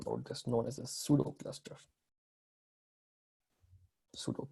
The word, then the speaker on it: Pseudo: Now, technically, you can run Hadoop on single node that's known as a pseudo cluster. Pseudo P is silent here.